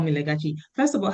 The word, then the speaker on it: Legachi: first of all, so it's pronounced Legachi. Yeah. Oh, Legachi. Call me Legachi.